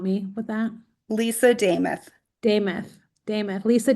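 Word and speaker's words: Demuth: I'm going to mispronounce her last name. Could you help me with that? Lisa Dameth. Dameth, Lisa Dameth.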